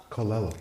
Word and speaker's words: Colella: Devon, is it Colella? Colella. Oh, yeah, okay. It's always good to correct the guy who can't pronounce it properly.